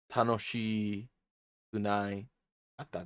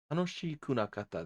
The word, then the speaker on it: 楽しくなかった: Tanoshi kunai katta desu. Past negative. 楽しくなかった. Oh, that's right. Tanoshiku kunakata. Tanoshiku nakata desu. Yeah, and there's still that bit of a contraction with the she syllable.